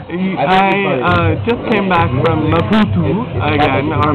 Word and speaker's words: Maputo: So I just came back from Maputo again, or Maputo, and I went to go say goodbye to a good friend of mine who y'all meet.